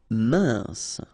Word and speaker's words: mince: Mince. Final E not pronounced. E-N together. Un. Mince.